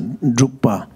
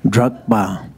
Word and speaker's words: Drukpa: as a title as a as as a drupa uh of course some people they just can't pronounce very nicely so they call it Dr drba they call it drka so you know there little bit of different